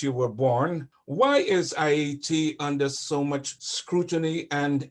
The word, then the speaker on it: Haiti: Because Haiti, they changed the name to Hate for a reason, but it's pronounced Haiti.